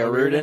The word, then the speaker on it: O'Riordan: Yeah, Okay, O'Riordan, O'Riordan.